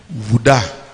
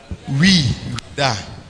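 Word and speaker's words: Ouidah: later in the same year set sail from Juda. How do you pronounce it? Wuda. Wuda.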